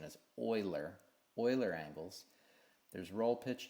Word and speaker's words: Euler: to me it looks like you should be pronounced euler but it's actually the proper pronunciation as euler euler angles there's roll pitch yaw three points